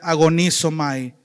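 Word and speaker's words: ἀγωνίζομαι: para pelea es literalmente se pronuncia agonizo mae que de ahí viene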